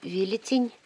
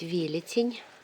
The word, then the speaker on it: Велетень: Там дальше у меня украинский велетень. Меня поправили правильно говорить Велетень, а не велетень.